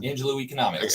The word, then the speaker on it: Angelou Economics: Pronounce it again. Angelou Economics.